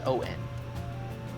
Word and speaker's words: Thorinson: And it is Thorinson. How do you pronounce that? Thorinson. Oh, Thorinson. Thorinson. Yep. Wait. Not Thor's son. Thorinson. Yeah, like the dwarf.